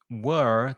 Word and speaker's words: whir: this sound because I whir, WHIR, again, the where pronunciation is tricky. Don't look at the spelling too much. Think of the word WERE, the past of the verb to be.